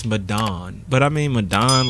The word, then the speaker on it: Medan: and they wish and not how you pronounce it, man. It's MEDAN.